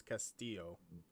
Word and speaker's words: Castillo: pronounce this yeah and in Spanish the two L's make a y sound so it's Castillo okay that's it this